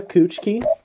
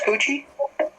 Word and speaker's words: Kuchiki: Uh, 17 is going to be Rukia Kuchiki from Bleach. Who's Coochie? What? Kuchiki. Can you spell that?